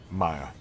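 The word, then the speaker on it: Maia: um a i a maybe it's just Maya yeah it's just Maya m-a-i-a I should have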